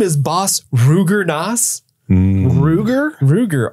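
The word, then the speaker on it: Rugor: that Ruger roll that I kind of want to pronounce it as Roger but I know that's not right Roger nass it's Roger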